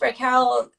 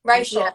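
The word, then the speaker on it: Reichl: Even Ruth Raquel. Is that how I say her name properly? Raquel. Reichel. Reichel.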